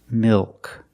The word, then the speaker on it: milk: Milk. The L in milk is also a dark L.